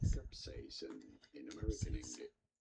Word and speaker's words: capsaicin: In British English, this is normally said as capsaicin. You do want to stress on the second syllable, on the say syllable. Cap-say-a-sin. Capsaicin. Cap-say-a-sin.